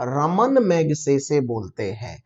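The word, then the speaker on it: Ramon Magsaysay: बातें दोस्तों तो यह बहुत से बच्चे इसको रेमन मैगसेसे रमन रमन हमारे साइंटिस्ट उच्चारण करते हैं और यह उनका इससे कोई लेना-देना नहीं है है रेमन मैगसेसे के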